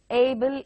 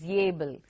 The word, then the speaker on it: able: Angry is yangry. Able is yable.